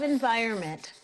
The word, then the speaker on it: environment: I love thrive and I love environment. This is a hard word to spell. I want you to particular attention to the N. You don't hear it, and it's a silent letter.